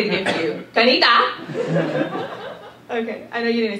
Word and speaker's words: Kinetta: n e TTA and there are three ways that people typically pronounce my name and the first way is the phonetic pronunciation which is caneta and then there's the second way which is the preferred pronunciation which is canita canita and then there's also the very acceptable way that my 4 foot n Taiwanese mother says it and it's canita I'll say it again